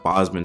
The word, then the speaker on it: Bozeman: I believe it's actually pronounced Bozeman.